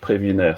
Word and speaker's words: Prévinaire: And in fact, yes, indeed, webinar rhymes with Prévinaire, so no problem with that.